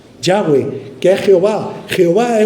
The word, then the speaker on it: Yahweh: y H V H su pronunciación en hebreo es Yahweh que es Jehová Jehová